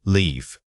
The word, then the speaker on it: leave: First live. Compare it with leave. Focus on the vowel length. This is a classic case where vowel duration makes or breaks clarity. If you use a short I sound when saying leave, you risk sounding like you were saying live. Remember to stretch that middle vowel out for true distinction.